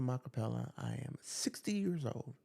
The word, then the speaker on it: Makapela: My name is Makapela. That's spelled t h e m b a.